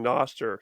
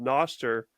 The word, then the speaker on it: Nostr: or 3 episodes in a row of shilling Noster.